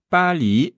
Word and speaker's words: 巴黎: très important quand même Paris en chinois c'est Pali ouais pa pa B